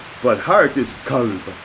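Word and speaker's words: قلب: And they are pronounced very similarly, except for the first letter is different. So the dog is kalb, kalb. But heart is kalb, kalb.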